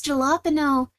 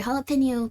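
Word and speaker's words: jalapeño: kind of nice elice jalopeno I'm sorry jalapeno people are going to think I actually pronounce it that way you know what jalopeno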